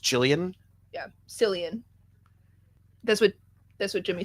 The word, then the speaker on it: Cillian: Jillian is pronounced Jillian? Yeah, Cillian.